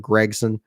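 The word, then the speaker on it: Gragson: A lot of the usual suspects closer to the top there, especially Algar and Gregson. That's another thing too. How do you guys pronounce Noah Gregson?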